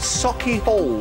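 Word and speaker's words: Sauchiehall: Got to say hello to Ryan, who made rather a show of me on, I think they pronounce it, Socky Hall Street.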